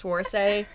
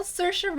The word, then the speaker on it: Saoirse: he's like the male version of that one chick, whose name is really hard to pronounce, Swarsay. Oh, Saoirse.